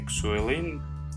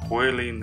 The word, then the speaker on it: Xuelin: new player by company suelin it is ihi 800. actually it's oiling or whaling i don't know how to pronounce them correctly prove that they can